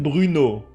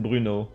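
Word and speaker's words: Bruneau: You pronounce it Bruno. I know it's an E, an A, and a U, which doesn't make sense, but you pronounce it Bruno.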